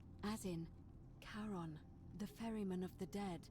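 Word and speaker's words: Charon: it's just as you described it only your pronunciation is a little off the number you heard wasn't karen it was c h a r o n as in caron the ferryman of the dead you're my who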